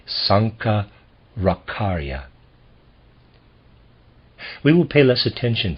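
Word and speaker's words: Shankaracharya: Century A.D Sankar akarya I'm going to spell his name s-a-n-k-a-r-a-c-h-a-r-y-a I'm gonna pronounce that Sanka rakharya we will pay less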